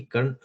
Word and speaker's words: कर्ण: You have to pronounce it बेटा, कर्ण नाम है ना, तो अगर आप ए आपको प्रोनाउंस आता है उसमें, कर्ण।